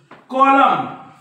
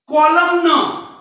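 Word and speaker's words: column: असतं हे माहीत नसेल तर 100% ते मुलं कसे वाचतील कॉलम न कॉलम न कॉलम न पण हा n हा काय असतो सायलेंट असतो किंवा m नंतर आलेला किंवा m च्या जोडीला जेव्हा n असतो काय म्हटलं मी m च्या जोडीला जेव्हा n असतो तेव्हा n सायलेंट असतो असतो किंवा एम नंतर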